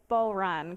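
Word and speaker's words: bodhrán: online i assume and you specifically teach the bull run correct am i saying it right yep yep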